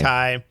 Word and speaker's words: Jotai: Yeah, Jotai. Jotai.